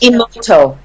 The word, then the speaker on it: Emoto: I have pronounced Emoto.